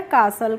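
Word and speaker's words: castle: होती है, इसको हम साइलेंट रखते हैं। यानी कि हम इसको नहीं पढ़ते हैं। इसीलिए हम इससे नहीं पढ़ेंगे। तो, यह हो गया कासल।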